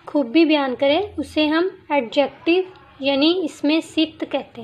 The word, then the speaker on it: adjective: तो friends, एडजेक्टिव में D silent है, इसको हम एडजेक्टिव पढ़ते हैं। डी लिखते तो हैं लेकिन पढ़ने में ये साइलेंट है।